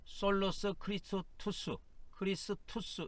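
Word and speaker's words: Solus Christus: 그 다음에 이제 두 번째는 오직 그리스도, 솔로스 크리스투스 이렇게 발음합니다.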